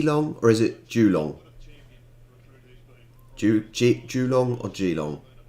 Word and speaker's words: Geelong: will be doing that it's in victoria okay julo am i just so even then i'm saying